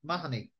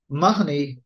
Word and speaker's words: Mahoney: It's one of these ones where Mahoney is much more. This is the way the surname is pronounced in Ireland now.